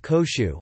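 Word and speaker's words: 広州: Examples include: notes, Guangzhou, the city, is pronounced Koshu, while Guangdong, its province,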